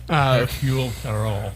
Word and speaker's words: Hercule Poirot: Hercule Poirot. Yeah. Yeah, that's how you pronounce his name.